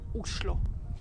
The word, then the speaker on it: Oslo: number 11 visit only oslo the capital of novi and actually in norwegian the right way to pronounce the name of the capital is ushlo oslo is a great